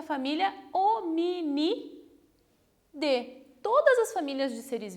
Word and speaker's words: Hominidae: Está escrito dae, mas se pronuncia Hominidae.